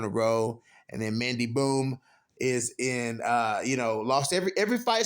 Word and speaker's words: Bohm: Mandy Bohm versus Yeon Kim.